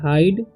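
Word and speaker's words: hide: हम please हाइड इसे जब भी लास्ट में ई आए सेकंड में आई आए ठीक है तो आई का उच्चारण आई ही रहता है ठीक है तो पढ़ेंगे हाइड मी इसे में नहीं पढ़ना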